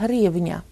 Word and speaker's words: гривня: Грошова одиниця України – гривня. І зверніть, будь ласка, увагу, що звук «ні» у цьому слові в будь-якій формі буде вимовлятися м'яко. Гривня, гривні, гривню, гривень.